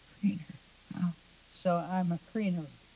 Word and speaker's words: Kreiner: And on the French side, that name is pronounced Kreiner. Kreiner.